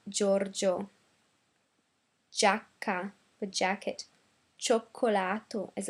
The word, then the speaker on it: Giorgio: For example, Giorgio, not Giorgio, but Giorgio.